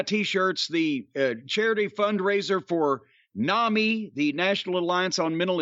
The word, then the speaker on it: NAMI: It's NAMI like mommy, except in mommy is spelled M-O-M-M-Y, whereas this is N-A-M-I.